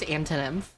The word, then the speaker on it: Anthonymph: Is pronounced antonyym. It's a combination of the word antonym and nymph.